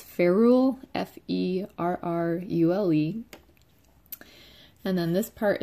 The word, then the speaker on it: ferrule: And then this part here, I'm not sure exactly how it's pronounced because I've only ever seen it written, but I think it's ferrule, F-E-R-R-U-L-E.